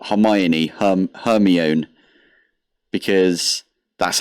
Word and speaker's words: Hermione: It's like people that call Hermione Hermione, because that's how they read it the first time in Harry Potter, in the books. And then the movies came out and they were like, oh, it's Hermione.